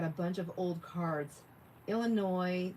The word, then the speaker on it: Illinois: Illinois, the S is silent.